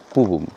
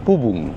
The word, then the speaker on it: পুবুং: এই জায়গাটার উচ্চারণটা এখানের স্থানীয়রা যা করেন তা হচ্ছে পুবুং, PUBUNG। গুগল ম্যাপেও তাই রয়েছে। আমি হয়তো আগে পুবাং বলেছিলাম বা পাবুং বলেছিলাম, সেগুলো ঠিক নয়। সঠিক উচ্চারণ পুবুং, PUBUNG।